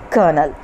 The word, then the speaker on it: colonel: of the mallow family with large shogi flowers colonel how will you pronounce this colonel a rank of officer in the army brigadier a rank of officer in the british army above kernel trapeze horizontal bar hanging by two ropes and